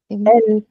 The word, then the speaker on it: elles: इसका मतलब होता है दे एंड ELLES, इसमें भी हमने एक एक्स्ट्रा S लगा दिया, तो इसकी प्रोनाउंसिएशन क्या होगी? एल, मतलब ऐसे भी बोल सकते, ये वाली प्रोनाउंसिएशन भी याद रखो, तो एल।